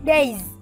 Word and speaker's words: days: Chỉ có câu D, C, chữ days. Chữ s nó sẽ phát âm là z.